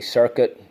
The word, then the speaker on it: circuit: earth and the you technically the U is silent it's really circuit technically I guess it's